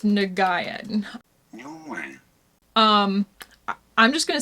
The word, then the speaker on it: Nguyen: How to pronounce Nguyen? Nguyen. I'm just gonna say Nguyen.